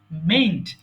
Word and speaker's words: mayn't: লক্ষ্য করো কি হবে বানানটা, উচ্চারণটা মেন্ট। যখন আমরা মে নটকে একসাথে বলবো তখন সেটা হয়ে যাবে মেন্ট।